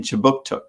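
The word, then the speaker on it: Kjipuktuk: right start newcomer services conducts business in chibuktuk which is how you say halifax in the mi'kmaq language this city is part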